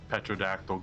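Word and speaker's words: pterodactyl: Yeah, like the old joke, why can't you hear it? A petrodactyl go to the bathroom because the P is silent.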